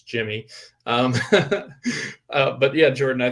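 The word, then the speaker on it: Yimmi: so that's exciting um because for so long asking yemi but it's jimmy um but yeah jordan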